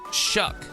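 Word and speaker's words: Shough: His name uh his last name is Shuck, but it looks like it would be Stow or something like that.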